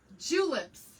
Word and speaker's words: julep: I have these little bit cocktail pronounced like tulip, but julep.